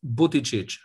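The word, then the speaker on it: Buttigieg: exactly it's it's um people who don't speak maltese they make it actually harder than it is so it's booty booty it's like boom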